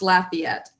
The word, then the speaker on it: Lafayette: not careful it's pronounced Lafayette so you kind of emphasize the laugh the laugh part of